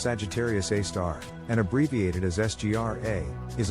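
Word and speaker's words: Sagittarius A*: Sagittarius A, pronounced Sagittarius A star, and abbreviated as SGR-A,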